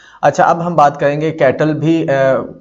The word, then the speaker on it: Cattell: कैटल, अच्छा ये कैटल नहीं है, कुछ लोग इसको कैटल पढ़ते हैं, कुछ लोग इसको कटेल पढ़ते हैं। ठीक है, गूगल पे जाएंगे तो वहां पर प्रोनाउंसिएशन इसकी जो होती है ना कटेल होती है, तो हम भी कटेल पढ़ेंगे।